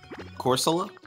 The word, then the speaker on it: Corsola: have obtained fast on what happened to this corsola is that is that how you pronounce it is that how you're gonna show up in my stream and pronounce it corsola yeah that's better Orsola hey hey hey Charles